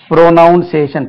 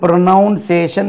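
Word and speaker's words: pronunciation: ப்ரொனௌன்சிங் dictionary ப்ரொனௌன்சிங் ப்ரோநௌன் ப்ரொனௌன்ஸ் ப்ரொனௌன்சிங் dictionary இப்போ உச்சரிப்புக்கு உள்ள வார்த்தையை பாருங்க ஜெனரலா நம்ம ப்ரோனௌன்சியேஷன் பி ஆர் ஓ என் ஓன் சிஐ ஏ டிஐ o பாருங்க பாருங்க இது ப்ரோநௌன் ப்ரொனௌன்ஸ் ப்ரொனௌன்சிங் இதுக்கு ப்ரொனௌன்சேஷன் என்ற உச்சரிப்பும் இல்லை ஸ்பெல்லிங்கும் இல்லை ஸ்பெல்லிங்ல பாருங்க பிஆர்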